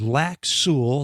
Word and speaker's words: Lac Seul: today our destination is lack Su that's spelled SE l in the town of